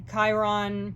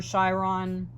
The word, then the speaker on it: Chiron: There's going to be a lot of tests because Chiron or Chiron, people pronounce it different ways, both ways.